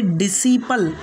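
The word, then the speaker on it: disciple: उसके बाद का नेक्स्ट रूल है हमारा कि जब एस के बाद सी आ जाए तो सी साइलेंट होगा।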